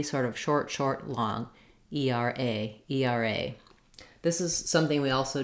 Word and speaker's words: ERA: types of abbreviations where we tend to stress on the last syllable and we say each each letter the letter name and so we just